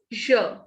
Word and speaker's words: je: Next is je. Whenever E is at the end, we don't pronounce it. So this is pronounced as je.